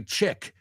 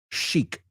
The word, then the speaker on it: chic: that those black dresses are very chick no Sheik I know we're trying